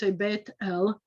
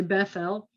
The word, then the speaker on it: Beit El: question either way so in modern hebrew beit el you wouldn't say bethel and you say bethlehem